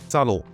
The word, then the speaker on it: subtle: coffee is quintessential Comfort subtle it's hard because it has that silent B remember it's silent but not so subtle once you know it don't change us